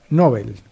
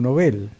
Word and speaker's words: Nobel: Que nosotros usamos ampliamente la palabra como Nobel, como si tuviera acento en la O. Pero, según los escritos que nos llegan también en los diccionarios académicos, dice que en Suecia el nombre suena como Nobel y que traducido sería